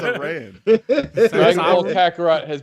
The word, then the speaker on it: Aran: Samus Arum? Who? what? Samus Arum? Sorry. They be saying it wrong online. I hate it. Oh. Samus I'm Arum. like, who the hell? What? Samus Aran.